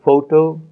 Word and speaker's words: photo: third word photography so we have the word photo also with the stress on the first syllable and when we get